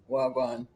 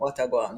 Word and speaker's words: wagwan: wagwan. Wadawa, yes, Okay. Wagwan. Wadagwan. No, not watagwan. Wagwan.